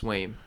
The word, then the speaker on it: Swaim: at this point, but Is it Swaim or Swami? They might as have far as something. I've heard, it's Swaim. They might have something here. If it's spelled or pronounced like Swami, Then the Bills are winning a Super Bowl.